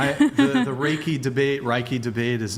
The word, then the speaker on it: Reiki: It's Reiki. It's Reiki.